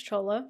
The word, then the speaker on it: Chola: It doesn't look like it would be pronounced that way. Technically, it's actually not. In Italian, it's Ceola, but my family was lazy and dropped a syllable when they immigrated here from Italy.